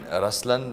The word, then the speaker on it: Ruslaan: yeah so even in raslan when you say raslan also means the lion it's the attitude of am but the right pronunciation is rlan okay there is so